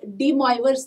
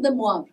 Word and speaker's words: De Moivre: nth roots of unity mind you please the pronunciation is the moab in many books or people they call it as dee moyer's theorem i mean if you go by spelling